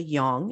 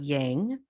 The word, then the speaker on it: yang: white portion is the Yong and you may notice that I'm saying Yong not yang this is how it